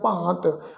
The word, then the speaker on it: भांत: भांत शब्द है जी, भब्बे नूं कन्ना ऊपर जिहड़ा वा बिंदी सहित पाठ उच्चारण करांगे भांत।